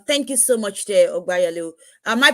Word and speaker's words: Ogbeyalu: Thank you so much there, Ogbeyalu. Am I pronouncing that well? Ogbeyalu. Yeah, Obeyalu Is is it fine.